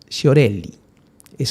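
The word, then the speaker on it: Sciorilli: La letra fue escrita por Alberto Testa y la música es de Eros Sciorelli, o Sciorelli, es así como se pronuncia.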